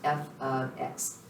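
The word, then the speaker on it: f(x): information for y so anytime you see f parentheses x closed that is pronounced f of x g of x h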